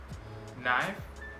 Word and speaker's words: knife: K is not pronounced when it comes before an N. For example, knife, no, knee, knock, not, knowledge.